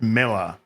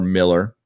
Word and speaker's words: Millar: pronounced people are saying even though it's AR it's still pronounced Miller well now so so